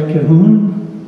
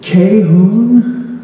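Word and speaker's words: Cahun: Is it Cahoon or Cahoon? Second syllable so tight and small it's not even really there. Cloud Cahoon, a French surrealist, and her partner, Marcel Moore.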